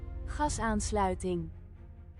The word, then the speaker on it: gasaansluiting: Why do you put a G in there if it's pronounced like a ch?